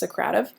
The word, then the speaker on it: Socrative: I learned it as Socrative, but since have been told that it's pronounced Socrative.